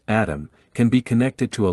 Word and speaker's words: ATMM: atmm at eurosatory 2020 the ATM pronounced atom can be connected to